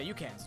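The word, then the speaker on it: Ucan: Yeah, Yukins. No, Yukin. In this game. Why, do you know? Like, spelled like Yukon?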